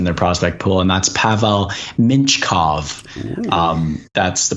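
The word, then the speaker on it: Pavel Mintyukov: need defenseman in their prospect pool and that's pavel minchkov um that's the pronunciation i watched the saginaw spirit broadcast to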